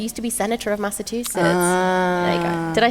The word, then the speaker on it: Massachusetts: But then somebody put in Slido, he used to be Senator of Massachusetts.